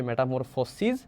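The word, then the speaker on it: metamorphosis: same শুধুমাত্র পার্থক্য হলো এটার মধ্যে যে জিনিসটা এখানে তোমার আছে এসইএস তাইলে এ উচ্চারণ হবে সিজ আর এটার উচ্চারণ আছে এস আইএস মানে এস আইএস সিস তাহলে দুইটা বই আছে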